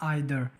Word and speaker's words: either: आज हमारा वर्ड है आइदर। बहुत से लोग इसे इधर भी पढ़ते हैं, तो मैं आइदर पढ़ता हूं, तो मेरी प्रोनाउंसिएशन आइदर है, तो मैं इसे आइदर ही पढ़ूंगा।